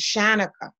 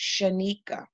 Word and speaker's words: Schanica: gone to interviews where they thought you would pronounce my name is Shanna or so but my name is pronounced Shaniqua and again I get